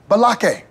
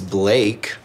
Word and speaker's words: Blake: I've got my eye on you Jake pauler Malaki where is balakay at nobelaka here today yes sir my name is Blake are you out of your goddamn mind Blake what do you want to go to war